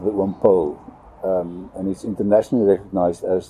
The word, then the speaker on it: Paul: it ron paul that paul like in paul revere is obviously the the way that that you would pronounce the word but in afrikaans it's like pole like uh like a pole vault so when pol means